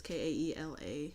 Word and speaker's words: Kaela: I'm assuming you pronounce her name Kayla. It's Kaela.